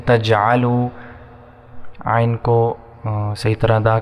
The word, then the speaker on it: تجعلوا: کو موٹا پڑھیں گے، فلا تجعلوا، لام کے بعد الف 1 سیکنڈ تک کھینچیں گے، تجعلوا، عین کو صحیح طرح ادا کریں گے تلفظ کے ساتھ، تجعلوا، وا کو 1 سیکنڈ تک کھینچیں گے.